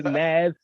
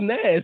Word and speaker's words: Nes: in songs and stuff they always say nas and i was like who's ness hey man and